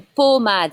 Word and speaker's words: pommade: Une pommade, it's a O sound, not A. O, une pommade.